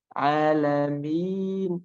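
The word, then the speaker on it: العالمين: Nah, tapi ketika sudah mulai panjang, alami mi. Nah, mulai panjangnya itu harus dihilangkan suara yang ada di hidungnya itu. Contoh saya baca pelan-pelan banget ya. Alami mi. Nah, mi itu memang ada suara dari hidung. Tapi ketika mulai panjangnya itu sudah harus dihilangkan suara dari hidungnya.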